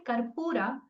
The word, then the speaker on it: karpura: When you said karpura, they said karpura. Press the pa a little more.